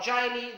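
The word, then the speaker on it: Geely: let's talk about uh dilly or jailey the way you want to pronounce their flagship mid-sized suv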